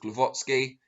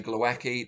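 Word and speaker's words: Głowacki: vacant wbo title against christophe glovatsky i don't care how many people want to say glowacky that's not how you pronounce it so i don't you know i'm going to say it right even if everyone else disagrees um but yeah the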